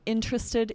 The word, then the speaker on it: interested: And then I said, you've always been way more interested in literature. So here, interested becomes 3 syllables, but literature usually stays 4.